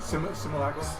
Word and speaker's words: simulacrum: Simulacrum? Yes, see, but you're adding a syllable. Am I? Yeah. Simulacrum? No, simulacrum. Simulacrum. You got it.